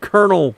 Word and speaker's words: colonel: Pronounce Colonel Cotton Belt.